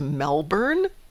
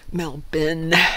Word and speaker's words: Melbourne: Didn't get that R out. Getting to get that R out. Yeah, it threw me. Sometimes for a while. That's just an accent, though. There's a lot of accents where the R just doesn't come into play. This is true, but I would bet that WC agrees with me that it is Melbourne.